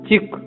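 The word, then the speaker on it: cheek: एक शब्द है चेक, जिसका मतलब गाल, चिक जिसका मतलब गाल, इसे बोलेंगे चिक, पर अगर आपने बोला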